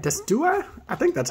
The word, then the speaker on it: Decidueye: I want to try to pronounce it, Decidueye. Decidueye, right? Decidueye?